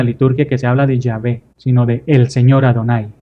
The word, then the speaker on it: Yahvé: Y nosotros, por lo general, en nuestras traducciones ponemos Yahvé, que es Y-H-W-H, bueno, la W en realidad es una V, esta es una Bab, una V, solo que en el mundo anglosajón la W se pronuncia como V, ¿verdad?